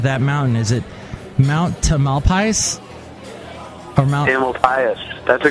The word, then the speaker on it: Tamalpais: Does it rhyme with anything? Mount Tamalpais. I guess it could be like a pious pope, because they have all